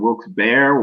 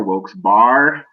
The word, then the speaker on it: Wilkes-Barre: and say hey it's wilkes-barre scranton that looks bear like it looks i heard wilkes bear woke's bar yeah like the players i